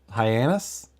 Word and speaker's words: Hyannis: of the town is I'm pretty sure it's pronounced hyenas Hyannis let me let me look at uh yes Nebraska it's h-y-a-n-n-i-s that's that is literally